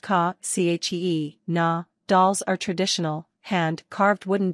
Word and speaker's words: Kachina: Kachina, Hopi Kachina, pronounced ka, chee, na, dolls are traditional, hand-carved wooden dolls made by Hopi Indians of the southwestern U.S.